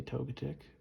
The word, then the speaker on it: Togetic: We have Neo 1, Neo Genesis Togetic, or Togetic, however you want to pronounce it. I say Togetic.